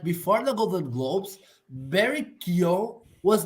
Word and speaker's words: Keoghan: But what are you gonna say about Barry Keoghan? Yeah, that's his that's how you pronounce his last name.